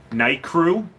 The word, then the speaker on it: Nicrew: It's not very deep, but um, Night Crew. It's spelt Nicrew, and it's a Hyper Reef 100.